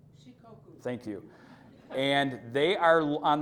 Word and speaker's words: Shikoku: Shikoku is our sister city island. Wow. Thank you for, yeah, and it's pronounced again? Shikoku. Yes, exactly what she said.